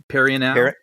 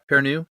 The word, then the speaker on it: Perrineau: Perrineau? Perrineau?